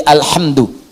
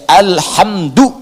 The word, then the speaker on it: alhamdu: Jadi Al Qira'ah As Sab'ah ala dhommi dal, bacaan di Qira'ah Sab'ah semua para pembacanya itu mendhomahkan huruf dal di alhamdu, ya, alhamdu, alhamdu.